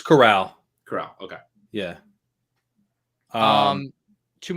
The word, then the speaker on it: Corral: like how do you say his name it's corral corral okay yeah um two more picks of